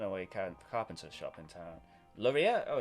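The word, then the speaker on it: Loria: a little hidden away carpenter shop in town laureate oh it's spelt l-o-r-i-a of course oh i was close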